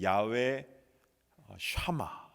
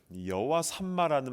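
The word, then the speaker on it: יהוה שמה: 원래 발음은 이제 야훼 샤마 이렇게 발음을 하는데 우리 한국말로는 여호와 삼마입니다. 자, 우리 가운데는 여호와 삼마라는 말을 잘 못 들어보신 분들 많을 겁니다.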